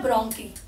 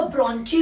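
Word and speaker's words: bronchi: तो यहां पर बोलते हैं ब्रोंकी। ठीक है, बहुत लोग इसको ब्रोंची भी पढ़ते हैं, तो वो आपकी प्रोनाउंसिएशन है, गलत प्रोनाउंसिएशन नहीं करना है, बट यू कैन से ब्रोंकी और ब्रोंची।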